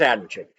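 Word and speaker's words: Adamcik: m like Adam c i k but it's pronounced Adam chick visited their friends Cassie Joe stoddart and her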